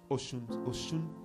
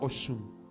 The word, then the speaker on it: Osun: So I was in a place called Osun. It's spelled Osun, isn't it? But it's pronounced Osun.